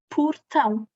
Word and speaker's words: portão: Porta, mas portão. O O passa a U. Em posição átona.